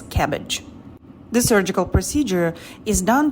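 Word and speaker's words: CABG: coronary artery bypass surgery cabs it's pronounced as cabbage the surgical procedure is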